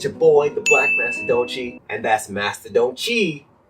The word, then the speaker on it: Mastadonte: question the Senpai and it's pronounced the black Master doni cuz I want it to be grammar